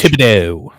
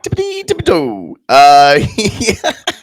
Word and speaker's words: Thibodeau: Thibodeau. Tom Thibodeau. Thibodeau.